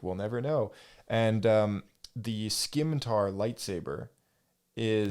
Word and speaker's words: scimitar: pronounced scimitar.